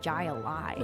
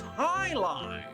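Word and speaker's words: jai alai: What the heck is Jai Ali? I was just about to answer pronounced high lie.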